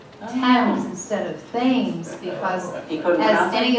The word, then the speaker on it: Thames: so long ago that that is the reason that the River Thames is pronounced times instead of things because